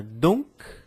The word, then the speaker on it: donc: Outras palavras, outro conjunto de palavras aí, uma dupla palavra donc e a palavra parc. Então, com palavras com C, algumas palavras que são finalizadas com C, eu também pronuncio parc, donc.